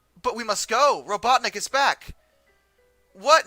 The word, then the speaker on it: Robotnik: you had been fighting robotnik's troops all night that you had oh it's actually robotnik not robot nick robotnik is how that's spelled you had made quite